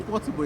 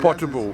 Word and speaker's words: Portable: Am I pronouncing his name right? Because I'm just calling it Portable. It's Portable, yeah. Portable, all right.